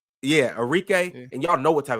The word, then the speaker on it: Arike: Arika. Yeah, Arike.